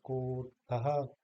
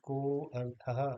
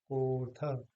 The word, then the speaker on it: कोऽर्थः: जैसे यहाँ पर आया है, तो हम इसको अ नहीं बोलेंगे, बल्कि इसको कहेंगे सर्वेपि, या कोऽर्थः, ना कि को अर्थः, ये नहीं कहेंगे, बल्कि कहेंगे कोऽर्थः।